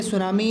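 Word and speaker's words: tsunami: हमारे chapter number two द सुनामी sum1 बोलते सुनामी है लेकिन टीन सिलेंडर इस समय सुनामी घाटी के अवसर साइलेंट है ठीक है सुनामी क्या है एक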